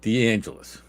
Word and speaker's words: DeAngelis: We have Dave DeAngelis and some girl. I Sorry, never hold heard on, hold on, hold on, hold on. Can you say his last name for me one more time? of. DeAngelis.